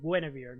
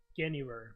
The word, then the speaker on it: Guinevere: So as Dana says, it's Knights of Guinevere, not Guinevere. No, it's Knights of Guinevere. Okay. So hey, I got it. I pronounced it correctly.